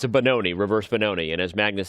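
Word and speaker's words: Benoni: position it's still a bonon which if you didn't get the memo earlier it means son of sorrow and it rhymes with balone bonon is just bad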